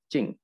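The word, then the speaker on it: 精: Tulisannya ini jing ya, kita bacanya cing.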